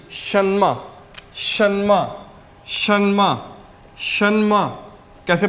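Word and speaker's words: 什么: word है एस एच ई एन एम ई सन्मा सन्मा सन्मा शमा कैसे pronounce करेंगे सन्मा शमा तो इसका मतलब होता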